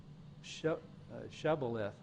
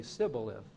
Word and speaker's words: Shibboleth: And if he said no, then they would say to him, "Now say Shibboleth." But he would say Sibboleth. Shibboleth and Sibboleth. So he couldn't pronounce it correctly.